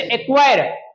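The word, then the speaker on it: acquire: जैसे लॉक सी क्या हो गया साइलेंट जैसे लक सी क्या हो गया साइलेंट जैसे एक्वायर क्यू के पहले क्या है सी तो क्या हो गया साइलेंट हो गया एक्वायर जैसे क्विक के से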